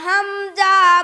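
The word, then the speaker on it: همزة: আলিফ তার নাম আলিফ তার নাম আলিফকে কখন হামজা বলা হয় আলিফকে কখন তখন হামজা বলা হয়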